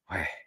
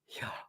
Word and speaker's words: Yahweh: In fact, the word Yahweh is really a breathing. The intake of breath is Yah, and then the out breath is Weh. So it's Yahweh, Yahweh.